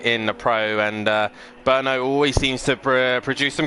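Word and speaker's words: Brno: we've just been able to discussion how to pronounce this track's name we've all been calling it bruno in the previous times and uh by the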